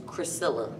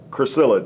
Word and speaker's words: Chrisilla: The pronunciation of my name is Chrisilla. Chrisilla, that's how you say it. Priscilla with a C. Priscilla with a C. So it's Chrisilla.